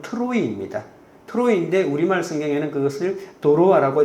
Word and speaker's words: 트로이: 이 드로아는 우리가 알고 있는 이 트로이 목마로 유명한 그 정확한 발음은 트로이입니다.